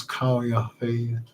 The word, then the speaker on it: Khufu: Remember, his name was Khufu at the time of his reign. His name was probably pronounced as Kayafi. And during the Hellenized era as Kuf.